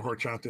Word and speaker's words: horchata: don't know what a horchata is yeah I'm sorry I shouldn't pronounce the H it's pork chop that